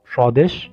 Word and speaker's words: স্বদেশ: নিয়ম 2 আমরা বলতে পারি শব্দের শুরুতে ব্যঞ্জন বর্ণের গোড়ায় ব ফলা আসলে ব এর উচ্চারণ হয় না। যেমন উদাহরণস্বরূপ আমরা বলতে পারি স্বাধীনতা, জ্বালানি, স্বদেশ ইত্যাদি।